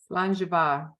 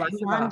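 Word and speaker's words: Slàinte mhath: Vanessa, how do you say that? Slangeva. Did I say that? Is that the phonetic thing? That's a good phonetic, yeah, because it's just Okay, Slangeva. Slangeva.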